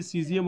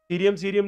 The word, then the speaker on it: सीजियम: सीजियम और selenium. सीरियम नहीं कहें, कोई ऐसा नहीं है, ध्यान रखना, स्पेलिंग मिस्टेक है. सीजियम. तो सीजियम कितना भाई?